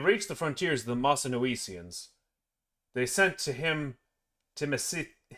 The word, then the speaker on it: Mossynoecians: I'm going to look up the pronunciation of this before I butcher it any more. And then I'm just going to start over. I was pronouncing it right.